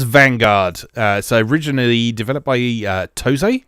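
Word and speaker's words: TOSE: So originally developed by Toze, I think is how you pronounce it, and released into arcades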